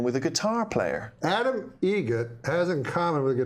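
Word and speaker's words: Eget: How do you say the name? Adam Egret. Egret. Spelt differently. Like the bird.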